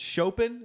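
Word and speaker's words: Chopin: am trying to learn it's shopen is how you say it yeah the nocturns I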